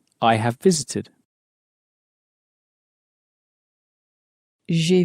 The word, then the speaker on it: j'ai: J'ai préparé. Make sure, again, when you're pronouncing I have, to pronounce it, J'ai. So, again, it's like the English letter J, really. but pronounced in a very French way.